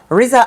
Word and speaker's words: RZA: When you're a celebrity other child, how you pronounce it? RZA. Riza and Riot.